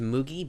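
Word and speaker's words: Mugi: Honestly, it's pronounced Moogie, but I say it Moogie.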